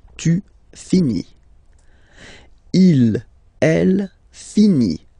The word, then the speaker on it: finit: Il, elle finit. So I-T, final T, not pronounced.